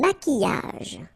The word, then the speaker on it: maquillage: Un maquillage. Okay, so here, same rule, Q-U, but then U is not pronounced, so qui, and then y.